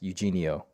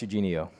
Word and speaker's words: Eugenio: professional DJ, Amazon FBA guru, he is Alex Eugenio. Is that how you say it? Alex? Yeah, it is. Nice, Yeah, it is. nice. Yeah. Alex Eugenio.